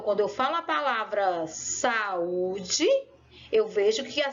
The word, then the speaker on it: saúde: a saúde então quando eu falo a palavra saúde eu vejo que a sílaba tônica é um bloqueio porque eu demorei